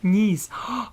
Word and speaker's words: Nice: coin in his um pack yes uh nice pronounced knes ah thank you thank you Heather thank you